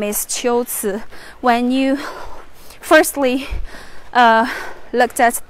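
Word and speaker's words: 龟兹: think, because in Chinese, usually the two characters should be pronounced as Gui and Zi, but it's actually not. Here, this place should be pronounced as Qiuci.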